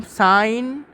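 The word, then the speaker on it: sin: करते हैं जब भी हम इसको स्टेटमेंट वाइज प्रोनाउंस करेंगे इसे कहेंगे हम साइन ऑफ एंगल थीटा ठीक है साइन ऑफ एंगल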